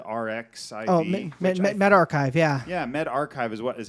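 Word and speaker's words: medRxiv: the um med rx met archive yeah yeah med archive is what is how they want it pronounced i believe um but yeah it's it's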